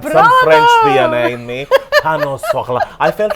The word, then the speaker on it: pain au chocolat: Pain au chocolat. That's Oh, bravo! I knew I had some French DNA in me. Pain au chocolat.